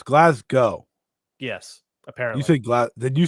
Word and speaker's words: Glasgow: loser leaves town match hold on so it's glasg go yes apparently you say GL did you say